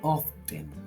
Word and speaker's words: often: Often, se escribe often, pero se pronuncia often, o frequently, es decir, que ocurre con frecuencia, pero no siempre.